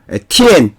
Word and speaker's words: 天: 티엔, 천자의 발음에 있어서 오늘날 중국에서는 티엔로 발음하고 있습니다. 즉 티엔이 텐진 조약이라고 들어보셨을 것입니다. 그런데 우리나라에서는 이 자를 천이라고 발음했습니다.